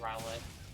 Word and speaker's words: Rowlet: yeah and then uh rowlet roll it yeah i think i've heard it pronounced riley i mean it makes sense because it's an owl yeah grass that one's